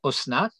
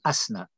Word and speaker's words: Asnat: qui est courant mais que les gens ont l'habitude de prononcer Osnat et ben c'est aussi une erreur il faut dire Asnat vaenlo est Asnat bat